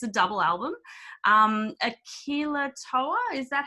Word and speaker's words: Akilotoa: Akilah Tour, is that how I pronounce that?